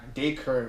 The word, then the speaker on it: Dacre: My name is pronounced Dacre.